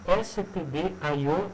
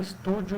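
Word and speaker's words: stdio.h: por favor pronunciem STD aio e comio e não Stúdio Icone pessoal isso é um erro básico que não se faz porque STD é Standard i é out con é console iio é Import outp tá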